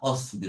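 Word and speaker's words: اصبر: হামজাতুল ওয়াসলির জের আছে, ওটা প্রোনাউন্স হবে না, অসবির, ওই আগেরটার মতো অতলু।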